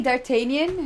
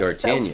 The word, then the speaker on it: D'Artagnan: You say D'Artagnan? That's D'Artagnan. So funny.